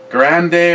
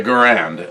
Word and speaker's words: Garand: be totally honest I have fired an m1 grande or however I mean I guess I was told everybody pronounces his name wrong it was Gandhi or the garand and that's just what it's kind of stuck